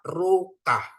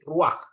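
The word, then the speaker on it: רוּחַ: ya ruka gitu ya tapi bukan dibaca ruka tetapi bacanya jadi Ruak ya Ruak Ya itu namanya stolen pat ya Bapak Ibu ya stolen Pat atau patnupah ya jadi bacanya bukan ruka tapi ruah itu ya itu namanya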